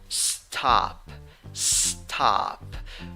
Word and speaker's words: stop: right past now seven you write it with o but you pronounce it with a but this a is a special a it is a mix of a and o all right so it's